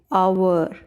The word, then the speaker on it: hour: No, I said honorable, hour, honest, honor. That means letter H is silent here.